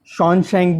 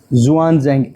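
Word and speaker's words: Xuanzang: हैं इसको, ज़ुआनज़ेंग है, ज़ुआनज़ेंग भी बोल देते हैं, और शॉनशेंग भी बोल दिया जाता है इसको, और हुआनशेंग भी बोल दिया जाता है। तो अलग अलग नेम है, बाकी ज़ुआनज़ेंग XZ ये इसका प्रोनाउंसिएशन प्रॉपर रहता है, ठीक है।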